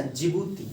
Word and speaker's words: Djibouti: तो बाबेल मंडप के पास इसी ढंग से ध्यान, एक कंट्री है छोटा सा, जिबूती, डी से है, डी से है लेकिन डी साइलेंट है, और वो है जिबूती।